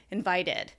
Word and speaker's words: invited: our mouths enough time to form sound and make it distinct from invite invited otherwise it sounds like invited and right invited doesn't sound right we have to give